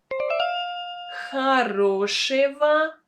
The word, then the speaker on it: Хорошего: Хорошего. Хорошего. Please note that the endings е, го, and ого should be pronounced with the consonant v.